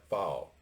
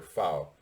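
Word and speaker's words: Pfau: called the rocket der fowle that's with a p f a u but the p is silent they're fou v two because uh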